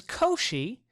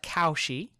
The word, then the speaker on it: Cauchy: is okay so a sequence a n is Co she and it is pronounced Co she even though it looks like cow she it's Co she like Yoshi if and only